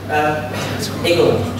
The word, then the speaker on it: IGEL: So, Eagle is actually how it's pronounced in German.